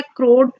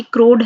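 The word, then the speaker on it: core: वैसे मैंने आपकी बुक की प्रोनाउंसिएशन ली है जो कि क्रोड है शायद, पर इसको होना कोर चाहिए।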